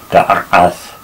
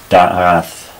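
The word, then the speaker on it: דעת: And this represents a sound that is still found in Arabic today. It's a very guttural throat sound made deep down in your throat, da'ath, something like that. In modern Hebrew, it's not pronounced, but presumably Moses and Isaiah did, as the Arabs still do today, deep down in their throats.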